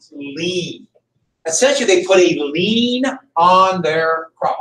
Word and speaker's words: lien: Essentially, they put a lien on their crop. I know it's spelled weird, but that's how they spell it.